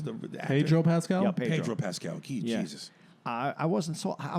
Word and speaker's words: Pedro Pascal: Yeah, Pedro Pascal.